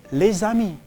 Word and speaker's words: les amis: So instead of say les amis, they say les amis. Okay? So they pronounce it as one word, les amis, so that you round off the edges, and that's why French is very melodic.